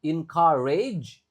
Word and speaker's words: encourage: Ada O, ada U, tapi keduanya nggak dibaca, tapi yang dibaca malah A. Encourage. Lalu yang A yang terakhir dibaca E. Encourage. Lalu E yang terakhir nggak dibaca, cuma ditekankan.